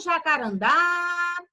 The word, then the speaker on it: jacarandá: for pronunciar essas palavras então jacarandar olha o jacarandá receba que a última sílaba elas estejam mais forte ela veio mais forte na hora que você pronunciou ela então ela vai ser vai ser acentuada na última sílaba então se a última